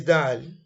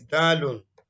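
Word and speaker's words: دال: Now, the name is Dal. By shortening it, if you want to pronounce it in full, it is Dalun.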